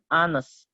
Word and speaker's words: honest: Contoh lagi an honest. Tulisannya honest. Nah, tetapi ketika dia bacanya itu konsonan, dia tetap pakai an seperti itu ya.